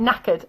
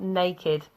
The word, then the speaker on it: knackered: But they meant knackered. So knackered means very, very tired. But it's like an informal slang version of this, okay? So yeah, but get the pronunciation right. Knackered, not naked.